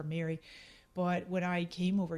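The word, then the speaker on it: Meiri: without the middle eyes the silent eyes pronounced exact same ways gaelic for mary but when i came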